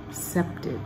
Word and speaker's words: accepted: accepted put a little line between the two C's ack accepted so we don't end